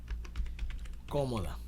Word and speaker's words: cómoda: este lujo daba comodidades cómoda sale coma vamos a poner una pequeña coma cómoda lleva tilde en la o es una palabra esdrújula todas las palabras esdrújulas